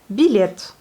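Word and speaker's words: билет: Billet. Le billet. Billet. Et là, vous entendez le yé un peu atténué. Vous voyez, yé. Billet. Voilà.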